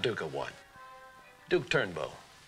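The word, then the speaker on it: Durnbeau: Not duka one Duke turnbow turnbow how would you spell that d-u-r-n-b-e-a-u it's French mine's Rosie Rosie a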